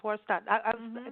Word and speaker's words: Swarstad: It's Swarstad.